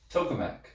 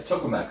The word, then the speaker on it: tokamak: even heard that phrase oh it is tokamak yeah i said it right yeah tokamak so it's a donut